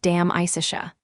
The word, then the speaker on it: De Amicitia: We've finished Livy and De Senectute and are now engaged with De Amicitia, pronounced Dam Isicia.